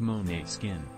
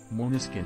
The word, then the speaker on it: Måneskin: Jett for the uninitiated the band's name is pronounced Monet skin yes moniskin has a the Angelus